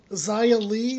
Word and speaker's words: Xia Li: Also, Xia Li, that's how you say her name.